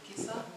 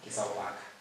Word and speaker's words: Kesaoaka: Kisa? Kesaoaka.